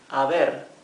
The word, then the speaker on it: haber: Here the H is also mute. Haber.